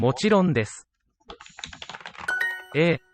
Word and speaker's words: もちろんです: もちろんです。A もちろんです。もちろんです. Just all phonetically. Don't need a word space, they're not used. もちろんです. The u in desu tends to be whispered or just be inaudible.